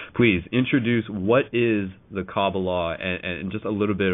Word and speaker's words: Qabalah: Kabbalah, spelled with a K, which is pronounced Qabalah, the way people have been conditioned to hear it, really refers to what